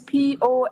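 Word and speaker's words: Poa: name my name is p o a p o a yes so how you pronounce po po yeah po yeah that's my name po my name's sorry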